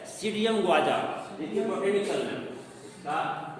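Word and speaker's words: Psidium: वैज्ञानिक नाम होता है सीडियम गुआजा। देखिए बोटेनिकल नेम, इसका बोटेनिकल नाम आप लोग नोट कर लीजिए। सीडियम भी साइलेंट होता है इसमें, सीडियम गुआजा, ये इसका वैज्ञानिक नाम होता है।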